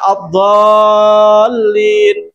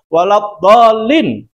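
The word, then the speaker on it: الضالين: Wajib dibaca enam harakat atau tiga alif. Tidak boleh kurang. Kalau misalnya tadi baca addallin, saya dengar-dengar kalau tarawih itu di kampung-kampung, di desa-desa, kalau ngimamnya cepat bacanya cuma waladolin amin. Boleh enggak dibaca seperti itu? Boleh. Tidak. Tidak boleh.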